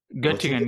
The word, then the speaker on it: Göttingen: Is that how you pronounce it? Göttingen, yeah.